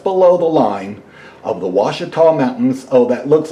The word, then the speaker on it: Ouachita: diamonds is just below the line of the Washita mountains oh that looks like al Qaeda or something but it's pronounced wash it tall Ouachita Mountains right between the Ouachita Mountains and we're